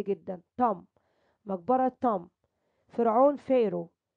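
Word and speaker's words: pharaoh: فرعون فيرو، البيتش بتجيب فيها والاتش ده سايلنت، فيرو.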